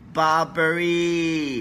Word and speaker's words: Burberry: 傻海龟，不是菠萝。Burberry, OK, pronounce again, 乌龟啊，龟公